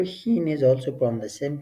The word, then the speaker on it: ښ: And the correct pronunciation is Hin. Look, Hin, Ha, Hin.